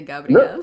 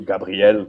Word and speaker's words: Gabriel: your name um american am i pronouncing it wrong when i say gabriel you can say like i prefer i like i like the french way to gabrielle you know it's just